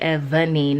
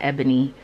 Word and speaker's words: Evani: wrong all the time so it's evening not ebony but i named it